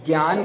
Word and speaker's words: ज्ञान: उसमें उन्होंने ये लिखा है कि ये ज्ञ शब्द बना है ज, आधा ज, और ञ, उसी वर्ण में अंत में ञ आता है। तो ज्ञान का उच्चारण पता है कैसा होगा? ज्ञान।